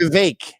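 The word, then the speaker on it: Vivek: vivec wasn't that popular VI it rhymes with cake they give me a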